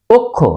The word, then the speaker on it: অক্ষ: সঠিক উচ্চারণ কি হবে অক্ষ আমরা অনেকেই বলি অক্ষ আজ থেকে আমরা বলবো অক্ষ কেন অক্ষ যে অ এর পর খি আছে সে কারণেই অ এর উচ্চারণ ও এর মত হবে অক্ষ অ এর ব্যবহার